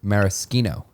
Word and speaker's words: maraschino: How's it pronounced, Lex? I was actually wrong last time I corrected you. It's maraschino.